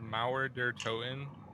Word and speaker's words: Mauer der Toten: I'll pronounce it how I pronounce it, because I've seen so many people trying to pronounce the name and just can't. Well, I think it's called Mauer der Toten.